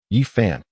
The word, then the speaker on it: Yifeng: Hey, Yifeng, it's Yifeng. Please pronounce it correctly.